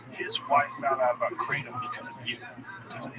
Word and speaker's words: kratom: Because people say Kratom. Yeah. You're the only one I've heard say kratom. It's a Thai word. People in Thailand call it kratom.